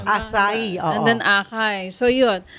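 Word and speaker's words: açaí: How you pronounce it? It's acai.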